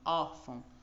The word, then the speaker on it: órfão: ver e aqui então a palavra por exemplo órfão é a primeira a sílaba tônica né é a penúltima não a última órfão quando a gente fala